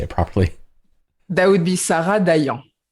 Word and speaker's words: Dayan: That would be Sarah Dayan. Dayan.